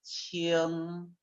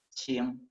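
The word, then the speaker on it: 轻: Más este componente, pronunciación es qing, ¿sí? Quería decir un vehículo muy ligero, ¿sí? Hoy también significa cualquier cosa ligera o liviana, qing, ¿sí?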